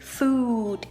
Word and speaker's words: food: But the long version of it, which is what we eat, food.